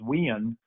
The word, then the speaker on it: Winn: my hometown it's where my name becomes two syllables and it becomes wiin where it gets drug out a little bit but no love the